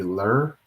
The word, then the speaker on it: ler: saying he or she, would be Li, and that's spelled L-E. And a good pronoun for like a possessive pronoun would be ler, L-E-R, instead of her or his.